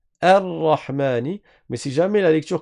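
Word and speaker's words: الرحمن: Ça veut dire que quand tu commences la lecture par le bâton, tu vas le prononcer, tu dis Ar-Rahmani.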